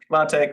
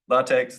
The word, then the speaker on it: LaTeX: of coding languages that no one pronounces consistently I've heard people say latch latch latex latex yeah does anyone really know anyway do you you